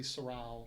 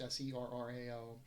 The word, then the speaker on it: Serrao: That, originally the school was going to be my name, which, kind of got Americanized, Serrao, but it's actually Serrao. It's pronounced Serrao.